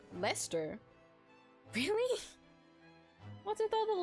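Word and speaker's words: Leicester: hug isard Russia suffocated that a history joke pronounced Lester really what are all the letters in there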